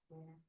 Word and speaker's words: Bena: Anong pronounce? Bena. Vienna sausage.